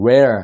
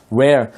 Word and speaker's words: rare: 뭐 레어템이다 이렇게 하지만 사실은 rare 발음을 잘해야 돼요. rare, 그죠? rare. 이게 레로 가면은 L 발음이 되는 거니까 확실하게 입을 rare 해서 이렇게 발음을 해줘야 R 발음이 나는 거.